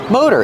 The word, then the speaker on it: motor: Motor. In American English, we pronounce it with a long O, mo. The T is a fast D, da-da-da, mode, motor. Motor.